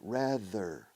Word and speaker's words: rather: Instead of rather than, fíjate la pronunciación, rather, la TH vibrada en medio, rather, Badajoz, bada, esa D en medio, hada, madrina, rather. Ese es el mismo sonido fonético, físicamente hecho, rather.